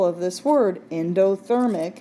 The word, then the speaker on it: endothermic: syllable of this word endothermic it's a four syllable word that first syllable is in and even though it's spelled differently it so it sounds like the word in so we want to